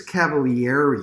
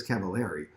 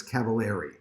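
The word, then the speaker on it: Cavaliere: they said you know it's felix cavalieri you know it's not felix cavallari uh cavalieri and he said well actually they're right uh but italians say it that way but i don't want to mix people up just say felix cavallari he said just say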